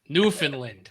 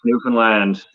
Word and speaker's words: Newfoundland: Newfoundland, right? No, you gotta say it right. Newfoundland. They get pissed if you say it wrong. Yeah, you can't say it like a mainlander.